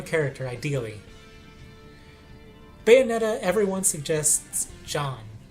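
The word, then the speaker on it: Jeanne: ideally bayonetta everyone suggests john which i guess is the french version of gene and is pronounced john if you care about french phonics and i don't her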